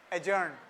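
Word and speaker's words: adjourn: अव field of लॉ एजन द यरिंग ऑफ the case बनन तो एडज नहीं होता एजन होगा ठीक है तुम लोगों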